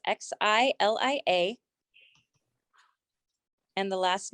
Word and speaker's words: Xylia: And the last name is, that's spelled TAU, double S's in Sam, IG. Great. Okay. And then Xilla? Xylia, it's Xilia.